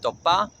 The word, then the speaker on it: Tópa: 4, Tópa, somewhere between a T and a D, Tópa.